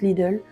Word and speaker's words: Lidl: j'ai acheté chez Lidl je sais pas comment vous dites mais nous en Belgique je crois que ça se prononce Lidl c'est une LED donc